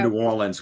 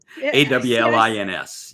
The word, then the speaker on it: New Orleans: How do you say New Orleans? New Orleans. New Orleans? Yeah, AWL. AWL? AWLINS. Yeah.